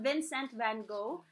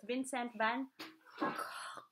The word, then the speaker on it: Vincent van Gogh: So, it's not Vincent Van Gogh. So, the proper Dutch pronunciation is Vincent Van Cough.